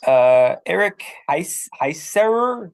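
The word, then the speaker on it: Eric Heisserer: Eric Heiserer is all the scripts are already written and the potential Shadow and Bone spin-off series, Six of Crows.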